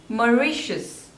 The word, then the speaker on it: Mauritius: Malta Malta next is Mauritius Mauritius so there are three syllables and stress is on the second one Mauritius Mauritius Mauritius next